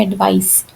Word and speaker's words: advice: तो एडवाइस जो सी के साथ है इसकी प्रोनाउंसिएशन है एडवाइस, स की साउंड आती है पीछे।